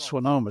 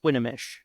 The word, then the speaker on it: Swinomish: say I call it Swan but I heard you just pronounces this a different way yes swinish so the O in there is actually pronounced like an A okay and I've been